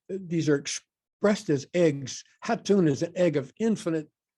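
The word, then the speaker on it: Jatun: And Hatun, it's spelled J-A-T-U-N, Hatun is like the pregnant void.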